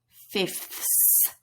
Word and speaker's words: fifths: so for this number you will simply pronounce three fifths lots of f t h and s so if you want